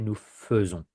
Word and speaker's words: nous faisons: We don't say nous faisons, we say nous faisons.